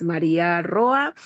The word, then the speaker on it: María Roa: Eh, tú lo acabas de decir, me encanta cuando me pronuncian mi nombre como es como tal. Si es María Roa, eh, bueno y emocionada